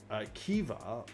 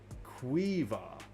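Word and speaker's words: Caoimhe: Kaumhi. And that's pronounced Kiva or Quiva.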